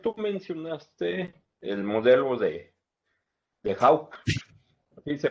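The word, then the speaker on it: Hawkes: Concepción, tú mencionaste el modelo de Hawk. ¿Así se pronuncia? Sí. Hawks.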